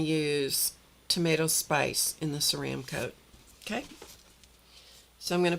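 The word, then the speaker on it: Ceramcoat: This is pronounced ceram coat, not cream coat. It's easy to call it cream coat because your mind will flip the letters around. And uh but it is ceram coat.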